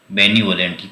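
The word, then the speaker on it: benevolent: बेनीवोलेंट, कल भी शायद आया था। बेनीवोलेंट का मतलब होता है दयालु, काइंड, ये कल भी आया था। बेनीवोलेंट, इसका प्रोनाउंसिएशन होता है बेनेवोलेंट।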